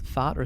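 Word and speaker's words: Thoth: each letter in it is it TH or th um I say tho some people say Toth okay um it's an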